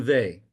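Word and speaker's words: Weil: MFK Fiser than Simone Vy. And by the way, her name is pronounced the V the W is pronounced as a V. V. Simone Veay was deemed as one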